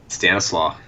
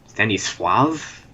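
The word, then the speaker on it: stanislaw: law drunk Stanis law people say Stan is law the way people pronounce Polish names in the US is really funny but whatever that's a story for another time How would how do you pronounce it Stave Stanis swav dude that's how it is Stan Stanis slra all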